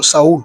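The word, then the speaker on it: Saül: Vous connaissez tous Saoul ou Saul, selon la prononciation.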